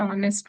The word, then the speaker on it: honest: So there also you can use and finish writing this can have written an honest man. Honest here also. H is silent, right? H is silent here.